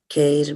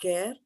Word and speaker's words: kair: Kair mayā, right? Not care.